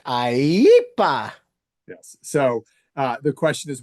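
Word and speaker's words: IEEPA: Yes, that statute is pronounced IEPA.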